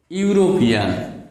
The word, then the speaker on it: European: Here we have got this word European. EU are pronounced as U.